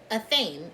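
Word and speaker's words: athame: thing check it out a fame a theme is what it's called thank you series so a theme some of the collective don't know that they have in a theme in the spear around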